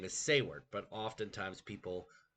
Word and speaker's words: Seward: His name is Seward, but oftentimes people mispronounce it and call him Seaw Word.